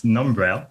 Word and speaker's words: Numbrail: you got it right it's numbrel so it's like number and like trail braille okay tell me about